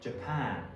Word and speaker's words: Japan: Ударениен екінші неге қоямыз? Екінші боңа қоямыз, Japan.